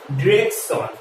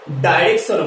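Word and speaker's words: direction: মানে এটার অ্যাকচুয়ালি কি, দেয়ার আর টু প্রোনাউন্সিয়েশনস অফ দিস ওয়ার্ডস, মানে এই ওয়ার্ডসটার দুটো প্রোনাউন্সিয়েশন রয়েছে। এটাকে আমরা ডিরেকশনও বলতে পারি, ডিরেকশন, আর আমরা এটাকে ডাইরেকশনও বলতে পারি। কি বললাম? ডিরেকশন অথবা ডাইরেকশন, আমরা দুটোই কিন্তু বলতে পারি।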